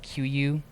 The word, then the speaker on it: KUIU: So one expensive one is called QU. It's spelled weird. It's KUIU, but it's and Sitka is another big one.